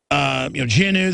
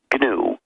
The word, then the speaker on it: GNU: Stallman, GNU that you invented that grew into Linux, all these other systems. Well, actually, no. It's pronounced GNU.